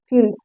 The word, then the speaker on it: field: देखिए यहाँ पर फील्ड, फील्ड मतलब होता है खेत, FIELD फील्ड, फील्ड मतलब होता है खेत, ठीक है। यहाँ पर देखिए आई और ई आया है, उसका उच्चारण बड़ी ई की तरह किया जा रहा है।